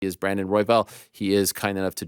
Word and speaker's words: Royval: How do you pronounce your last name? It's Royval.